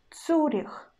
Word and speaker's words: Цюрих: Or цюрих, цюрих, цюрих. I pronounce у, not ю, and ц still hard.